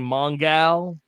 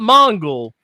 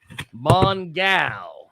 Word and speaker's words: Mongal: Is playing Mongal, not Mongle. Mongal.